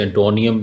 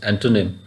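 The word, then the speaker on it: antonym: तो यहाँ पे भी बहुत सारे वर्ड्स बच्चे मिस प्रोनाउंस करते हैं, जैसे एंटोनियम मैंने सुना है कई बोलते हैं. सो इट इज़ नॉट एंटोनियम, इट इज़ एंटोनिम.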